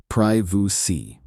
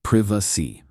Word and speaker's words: privacy: In American English, privy. In British English, privacy.